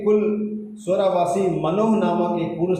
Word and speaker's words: Manoah: और जो नाम सैमसन के पिता का था, यहाँ लिखा हुआ है, दानियों के कुल स्वरावासी मनोह नामक एक पुरुष था, जिसकी पत्नी के बाज होने के कारण कोई पुत्र न था।